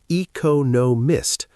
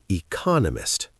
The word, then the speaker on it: economist: It has four syllables. Most people want to say economist, but the stress is on the second syllable, economist.